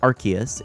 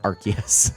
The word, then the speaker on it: Arceus: Hamabi Boy says, however you say it, Arceus, one of the most hotly debated pronunciations. There you go. I'm going to say Arceus. It sounds cooler to me. There you go. That's my defense for Arceus.